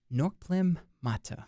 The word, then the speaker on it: Norkplim Mattah: but for today I am joined by uh norlem Mata right that's that's pronounced all right that's good so so um